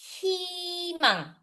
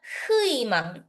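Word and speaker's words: 희망: Hindi siya huimang. It's himang. Same lang din dito.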